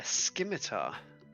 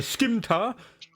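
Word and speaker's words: scimitar: with what uh a skimmitter you said it wrong no no I I was just like pronouncing it like how everyone in RuneScape used to pronounce it as skimmy a skimeter it's a skimta so um make your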